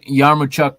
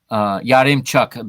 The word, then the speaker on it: Yaremchuk: Roman Yarmochuk there. Yarimchuk. There I go. I have to learn to pronounce this name correctly.